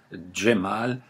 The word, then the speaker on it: Djemal: Vous regardez comment ça s'écrit, Djemal, souvent vous allez le retrouver avec un D et un J, mais les Turcs aujourd'hui l'écrivent avec un C. Le C en turc se prononce Dje.